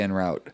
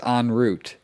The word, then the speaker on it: en route: __ ] weird that it's totally the opposite pronunciation of what i've always said we always say en route yeah but it's on root isn't that weird yeah so ins uh instead